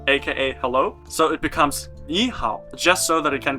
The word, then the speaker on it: 你好: In Chinese, if you have 2 syllables with the third tone in a row, then the first syllable changes into a second, a rising tone.